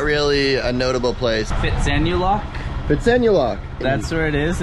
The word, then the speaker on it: Phitsanulok: Phitsanulok?